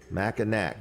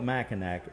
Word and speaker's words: Mackinac: It's spelled Mackinac. Mackinac. But that, if you call it Mackinac, that's like calling Lewis lose. No kidding. Or Yes. Houston, Houston. Yes, right. Okay. Yeah, so it's Mackinac, even though it's spelled with a C at the end.